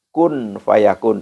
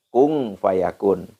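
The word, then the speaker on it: كن فيكون: Innama amruhu idza arada syai'an ayyaqula lahu kun fayakun atau kung fayakun. Boleh saja baca kun fayakun enggak apa-apa, bisa kung fayakun enggak apa-apa.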